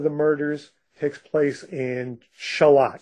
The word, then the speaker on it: Charlotte: the one of the murders takes place in shalot spelled like Charlotte North Carolina but it's pronounced shalot for reasons I'm not clear on but it's